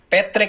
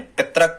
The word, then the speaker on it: पैतृक: पैतृक इस प्रकार से लिखें आप, ता में ये वाली मात्रा लगाएं, पितृक गलत होता है, पैतृक। जब भी आप इसको पढ़ें तो सही पढ़ें, पैतृक स्पेलिंग इसकी सही है।